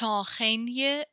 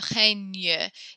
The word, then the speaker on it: règne: Emma, I'm going to have you repeat the règne. The G and E makes a ñ sound kind of like lasagna when the English word for this.